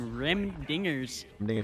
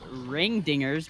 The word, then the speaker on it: Rim Dingers: now for some reason rim dingers yeah i want to say i i want to say ring dingers because you know it but it's it's rim and it screws me up